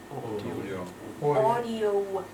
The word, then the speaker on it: audio: not ow never ever this is audio yeah okay so it's audio mhm audio file and just